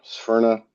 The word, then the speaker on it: Sphyrna: company, he decided that he would call it Sperna. Um, it it's great. It's a nice identifiable term. The number one question we get asked isn't what is it, it's how do you pronounce that? Sphere. Sperna.